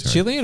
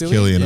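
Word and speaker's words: Cillian: And I think the guy that plays the scarecrow in Killian Murphy, is that is it Chillian or Killian? It is Killian. I said it wrong.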